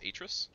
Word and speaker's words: Atrus: I believe it's Atrus. Atrus? Okay. Yeah. Like Atrium.